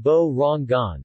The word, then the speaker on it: Borongan: Pronounced Bo-Rong-Gan, the name Borongan was taken from the local word Barong, which in the Waray-Waray language means fog.